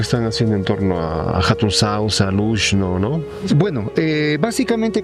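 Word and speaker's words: Hatun Xauxa: haciendo en torno a Hatun Sausa, Lushno, no? Bueno, eh, básicamente, como podemos ver en realidad eh eh Hatun Sausa o la antigua Hatun Shausa, si nosimos a la pronunciación en el quechua, ¿no?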